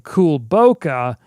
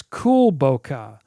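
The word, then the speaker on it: Kulboka: i've been saying it wrong i've been saying cool boca it's cool bokeh very very small difference but it means uh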